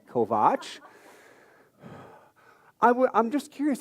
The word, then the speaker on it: Kovach: upon me and said, "Mr. Kovatch," which is not my name, and after three years at some point, she will learn how to say it correctly. Kovach, I would I'm just